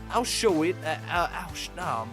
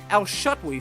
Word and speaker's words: Al-Shutwi: Sol Al-Shawit, Al-Shutwi. Sol Al-Shutwi. We were trying to get his pronunciation correct before the start of the broadcast.